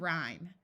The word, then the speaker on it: rhyme: And rhyme. This E makes the Y take on a long I sound.